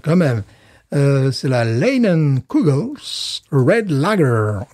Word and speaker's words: Leinenkugel's: même euh c'est la linon COGLES red lager moi je prononce à l'anglaise puisqu'ils sont quand même